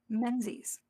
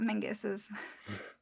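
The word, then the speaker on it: Menzies: So this this leads into what you're going to be doing in gate of pain as well as Balthasar's half brother Menses not not Muses region that tried to get us to believe that that's how that should be pronounced.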